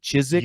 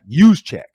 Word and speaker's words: Juszczyk: Is it Chiswick or Juszczyk? Juszczyk.